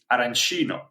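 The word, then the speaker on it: arancino: It's the street food, particularly the aranchino or aranchina because it depends on which part of Sicily you're from.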